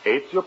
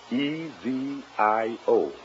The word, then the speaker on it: Ezio: Is that the way you pronounce it? That is right. Ezio Pinza. How's that again? Ezio. E-Z-I-O.